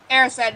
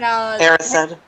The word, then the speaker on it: Erised: I mean, it's not obvious, is it? It's just desire backwards.